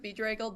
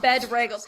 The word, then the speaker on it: bedraggled: It's actually pronounced bedraggled because I don't believe I that. got someone. There's 2 G's. Someone so laughed it's at aggle. me. It's like haggle. Oh, It's bedraggled. bedraggled, but it's not bedraggled.